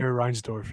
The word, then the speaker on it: Reinsdorf: Reinsdorf, yeah.